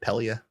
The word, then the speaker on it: Pelia: she's uh giving uh is it palia how do you say her name pelia pelia pelia she's giving